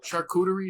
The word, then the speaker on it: charcuterie: So charcuterie, is that how you say it? Charcuterie, yeah.